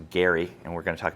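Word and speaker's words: Gerry: Her 1788 pamphlet opposing the constitution was so powerful it was wrongly attributed to Eldridge Jerry who we're going to talk about in a second which is actually pronounced Gary and we're going to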